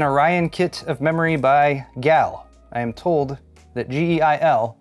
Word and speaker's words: GeIL: this is an orion kit of memory by gal i am told that geil which is golden emperor international limited is pronounced gal and if this is the first time you